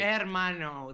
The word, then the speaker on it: hermano: hermano Max all right hermano the AG is silent hermano hermano that's brother yes